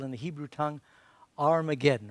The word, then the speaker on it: Armageddon: Says he gathered them together to a place called in the Hebrew tongue Armageddon, or might be pronounced Harmageddon or Harmagideon.